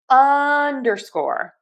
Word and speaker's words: underscore: So we are going to stress the short U here. Underscore, underscore, underscore, underscore, underscore. Stress syllable number one, and then secondary stress on syllable number three.